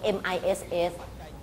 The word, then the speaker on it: Ms: อ่ า น เ ห มื อ น MISS MS แ ต่ อ่ า น ว่ า